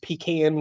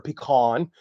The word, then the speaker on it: pecan: that I like to use pecan wood or pecan depending on how you pronounce it that always bothers everybody we call pecan down here in the South that's a kind of